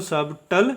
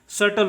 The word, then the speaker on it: subtle: उसी प्रकार से SUBTLE का उच्चारण सबटल, इसको सबटल नहीं पढ़ते, इसका उच्चारण सटल होता है, ठीक है। बी साइलेंट होगा, बी क्या होगा? साइलेंट होगा, और इसका उच्चारण करेंगे सटल, और सटल का मीनिंग होता है कोमल, ठीक है।